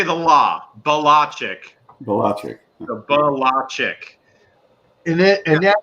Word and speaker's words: Bielaczyc: Belchek or Bel? Bielaczyc.